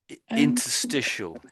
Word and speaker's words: interstitial: So the tricky words are interstitial. Interstitial. Interstitial.